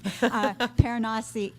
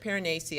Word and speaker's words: Piranesi: Paranasi is, how do you say it? I pronounced it Piranesi. I think that's how the author said right.